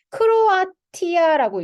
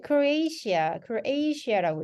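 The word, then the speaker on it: Croatia: 크로아티아라고 읽잖아요. 크로아티아. 근데 요게 크로에이시아라고 읽고요.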